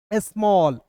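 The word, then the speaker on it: small: अब देखिए यहां पे एस एम A double L तो क्या पढ़ेंगे दोस्तों? स्मॉल। ठीक है ना? स्मॉल एस का आधा स एम का म और देखिए ए डबल एल है तो इसका उच्चारण ऑल के रूप में करेंगे।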